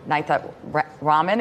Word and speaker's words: Nithya Raman: And the second thing we learned today is how to properly pronounce the name of the LA City Council person for District 4. Councilmember Nithya Raman is here live.